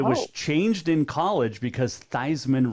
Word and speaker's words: Theismann: name originally it's pronounced thiesman and it was changed in college because theismann rhymes with heisman that's a good fact